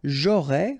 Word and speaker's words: j'aurais: J'aurais, final S not pronounced.